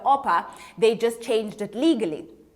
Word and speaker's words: Orpah: means gazelle and she her family was struggling pronouncing the name correctly so when she was one when oprah looked this up i'm not telling you a word of a lie when oprah was one because everybody was um mispronouncing it as oprah instead of oppa they just changed it